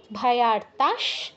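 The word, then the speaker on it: ভয়ার্তাঃ: মধ্য মধ্য গতারণে বিষমে দুর্গমে চৈব ভয়ার্তাস, বিসর্গর পর 3টে স্বরের যে কোনো একটা থাকলে বিসর্গর জায়গায় সেই স হসন্তর মতো উচ্চারণ হয়।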